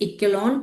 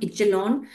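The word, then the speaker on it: echelon: तो that is known as इक्विलोन और इचेलॉन। कोई कोई जो है सी साइलेंट करके बोलता है और कोई विदाउट साइलेंट, तो it's okay, you should know the term.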